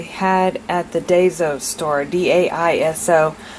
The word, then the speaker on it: Daiso: I've been pronouncing it Daiso, and so I actually went on to YouTube and asked for the pronunciation so that I would say it right, and they say it's Daiso. I think that's correct, but it's the Japanese